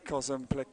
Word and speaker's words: Kozumplik: It's a non-emphasis surname. Sarah Kozumplik, it is just straight through with a no emphasis.